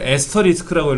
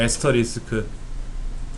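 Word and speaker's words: asterisk: 별표 요렇게 쓰는게 근데 이걸 에스터 리스크라고 읽어요 에스터 리스크 근데 보통 별표고무 그렇게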